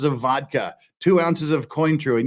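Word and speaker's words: Cointreau: vodka two ounces of coin true and yes I pronounce it coin true I don't pronounce it like the French do because nobody else does two ounces of orange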